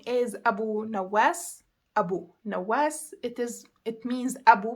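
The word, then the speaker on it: أبو نواس: It is humongous and it is pronounced Rukh. Another name is Abu Nawas.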